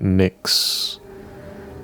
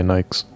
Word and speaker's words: Nyx: A secret skip drive research facility orbiting in the rings of the outermost planet Nyx or Nikes if you prefer. If you just want to pronounce things wrong, you can say Nikes, right?